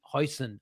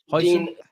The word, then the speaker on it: Huijsen: some links about Dean Huijsen. Have I pronounced that right, Avi? Huijsen? Huijsen, Very the good.